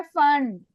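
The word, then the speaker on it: Pfund: Fifth को फंड। P silent होता है फंड।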